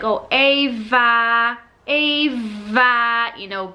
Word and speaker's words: Ava: and I'm like, oh, Ava, you know, pronouncing the V bit.